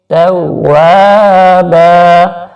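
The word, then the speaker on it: تَوَّابًا: اس کا اردو تلفظ انہ کان توابا, تا کو باریک پڑھیں گے, توابا. واو کو تھوڑا سا کھینچیں گے کیونکہ الف سے پہلے زبر ہے, الف حرف مدہ ہے, تو الف سے پہلے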